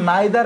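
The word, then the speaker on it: neither: কি থাকবে নাইদার থাকবে এটার উচ্চারণ নাইদার এবং নিদার দুইটি হয় বাংলাদেশে আমেরিকান ইংলিশ ফলো করা হয় এ কারণে আমরা নাইদারই বলব নিদার বলব না ইদার বলব নাইদার বলব দুইটি দুইটাই সঠিক উচ্চারণ আচ্ছা এবার দেখেন বোন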